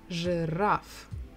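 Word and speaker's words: жираф: will be rough giraffe two syllables the stress is on the final syllable giraffe okay again it's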